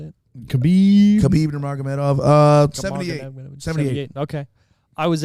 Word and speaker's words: Khabib Nurmagomedov: Marganamedov, how do you say it? Khabib Nurmagomedov.